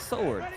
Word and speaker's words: sword: Well, it's like it's like sword. Sword. The W is silent like sword, but it's sword.